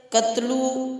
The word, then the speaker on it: تغلق: زیادہ مناسب ہوگا کہ ہندوستانیوں نے کثرت استعمال سے کنلگ لفظ کو توڑ موڑ کر تغلق بنا دیا اور بعض لوگ اس لفظ کا تلفظ قتلو ادا کرتے ہیں۔ غیاث الدین کا کردار۔